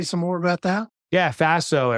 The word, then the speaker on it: Faso: more about that yeah Faso it rhymes with lasso and it stands for